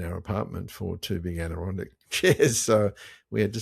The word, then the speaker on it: Adirondack: And beautifully pronounced, by the way, Adirondack chair. So Adirondack.